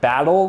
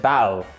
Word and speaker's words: battle: All right, next up is they drop the T sometimes. So if you're saying the word battle, they might pronounce it battle. Battle.